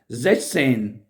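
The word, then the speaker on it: sechzehn: सीखने की, तो ये लफ्ज मुझसे भी सही प्रोनाउंस नहीं होता था। जैश, जैश कहना है, जैश सेन, जैश सेन है, जैश सेन यानी 16।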